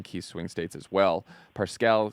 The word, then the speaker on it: Parscale: It's Parscale.